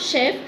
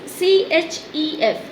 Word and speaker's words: chef: Here you must see the spelling of chef. This is C-H-E-F. But the sound, the pronunciation is not chef. It is chef. Sh pronunciation.